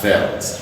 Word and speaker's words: veldt: Alright, look at a word like VELDT. You realize that the D is gone. This word is pronounced as velt.